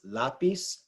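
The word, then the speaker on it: lápiz: it should be right here it's not it's lapis La pis the inflections on the LA facility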